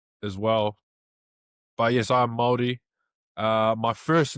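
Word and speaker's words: Māori: The word you're saying, it's not Maori, it's Morty?Maori, yeah, Maori. It's like M-A, yeah, you kind of roll the R. You roll the R, that's how you pronounce it.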